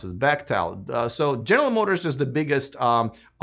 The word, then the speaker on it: Bechtel: I had to learn how to pronounce this, Bechtel.